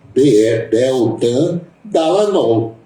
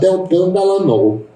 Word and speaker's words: Deltan Dallagnol: Eu não vejo dificuldade em pronunciar o nome desse rapaz, sinceramente, é Deltan, Deltan Dallagnol.